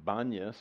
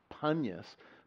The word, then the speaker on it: Banyas: It gets the name Banyas because the Arabic-speaking people who lived there for so long can't pronounce P, so they say B instead. Banyas, it was Panyas, Pan, after the god, the demonic god, Pan.